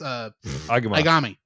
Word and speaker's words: Aigami: It's Aigami.